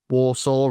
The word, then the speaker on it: WRSW: as well like um Warsaw or WRSW as it's spelled on the on the track list and I think the other one was I am.